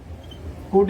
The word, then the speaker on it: could: Could is given here, we can write would. Here L is silent, students. We cannot read it could. That is could, and that is would.